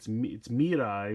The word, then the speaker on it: Mirai: I'm trying to get, I keep saying it wrong, but it's Mirai, which is the word for future, and then ride watch, so Mirai watch.